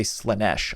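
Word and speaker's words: Slaanesh: Um, and then Slanesh is the or I guess people say Slenesh. I've only ever heard it pronounced Slenesh, but it definitely doesn't look like that's how you're supposed to pronounce it, but whatever.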